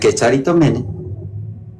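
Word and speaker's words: κεχαριτωμένη: Dalam cara bacanya dalam Indonesianya Kecaritomene.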